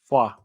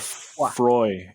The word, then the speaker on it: Froid: Froid. Yeah. So instead of Froy, it's froid.